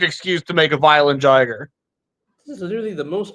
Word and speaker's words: Jaguar: It's crazy that Violent Jaguar is Jiger, Violent Jiger. Violent Jiger. But this one has it as Violent Jaguar. It's literally pronounced Jiger.